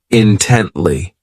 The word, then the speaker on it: intently: ridiculous next is intently this adverb has three syllables and the stress is on that second syllable intently so this word means